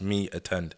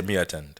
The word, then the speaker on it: MeAttend: really understand that term, I put it in an English way and spelled it the English way. So it's pronounced me attend rather than Yeah. Exactly. rather say me attend.